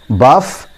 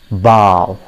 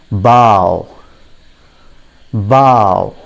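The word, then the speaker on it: bough: pronunciation plays an important role if you say buff nobody will understand that but if you pronounce it correctly everybody will be able to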